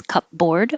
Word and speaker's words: cupboard: different than it looks although it might have started out as cup board we now say cupboard so you don't think about the p at all you just close your